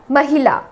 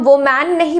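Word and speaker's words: woman: used शब्द है वह है वूमेन वूमेन मतलब महिला ये एक सिंगुलर शब्द है एक महिला को हम कहते हैं वूमेन तो इसका उच्चारण जो है वह मां नहीं है ना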